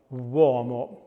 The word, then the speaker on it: uomo: But things like uomo, where we have that W sound used with the letter U.